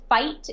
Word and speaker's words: Feucht: pronounce your last name it's pronounced fight in English or F there's two